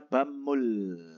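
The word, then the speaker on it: 밥물: ada selanjutnya di situ ada bab sama Mul gitu kan itu kan bacanya bammul bamul itu air menanak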